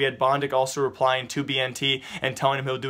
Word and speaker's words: BnT: They will be playing though without their best iconic player, the notorious BnT, or Bennett as I used to, you know, mispronounce, but BnT will not be there.